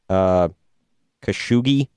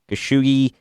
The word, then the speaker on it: Khashoggi: Jamal, I'm going to butcher his name here, Khashoggi, I believe is how you say it.